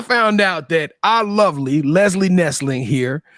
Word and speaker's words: Lizzie: But I get Leslie, and I even get Libby. I'm like, there's no B. Nah, so let's make sure. Lizzie. I hate saying Lizzie McGuire, but that's the best reference.